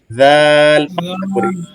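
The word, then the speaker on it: ذال: আগাটা দুই দাঁতের মাঝখান থেকে বের হয়ে আসবে জালি জাল জাল জাল জাল জাল জাল আচ্ছা আমি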